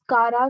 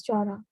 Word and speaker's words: Chara: Some says kara, some says chara. So it varies in pronunciation.